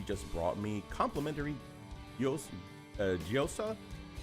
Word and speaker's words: gyoza: brought me complimentary uh giosa yosa appetizers is that how you pronounce it yep chicken gyoza yo appetizers so yesterday i